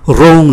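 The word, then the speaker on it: rond: Rong là tròn, cũng không phát âm.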